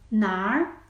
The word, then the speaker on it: 哪儿: Il permet de modifier la prononciation de na pour être nar, nar.